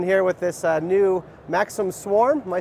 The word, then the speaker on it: Maxxim: heck they're doing here with this uh new Maxim Swarm.